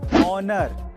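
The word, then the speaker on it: honour: Number 2, अगर किसी word में ओ से पहले एच आए तो उसमें एच साइलेंट रहता है, जैसे कि ऑनर, आवर, ऑनेस्ट।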